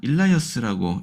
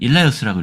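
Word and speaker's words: Elias: 교재에는 번역이 해놨네요 엘리어다 이게 엘리야라고 되어 있지만 일라이어스라고 이해하셔도 돼요 일라이어스 왜냐면 영어로는 이렇게 적혀 있는데 이게 엘리야라는 뜻입니다 엘리야 그리고 미국 사람들은 일라이어스라고 읽어요 둘 다 괜찮습니다 그러니까 그 예비자로서 일하여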